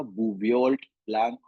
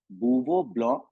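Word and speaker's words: Bouveault–Blanc: अब देखो ये स्पेलिंग लिखी हुई है यहाँ पर, जिसको देख के आपको लगेगा इसका नाम है क्या, बूवियोल्ट ब्लैंक रिडक्शन, बट ये एक फ्रेंच वर्ड है, इसको कैसे प्रोनाउंस किया जाता है, बूवो ब्लॉ रिडक्शन।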